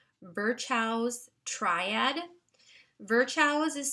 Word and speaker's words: Virchow's: And I wanted to just mention to you something called Virchow's triad. Virchow's is spelled VIRCHOW''S, triad.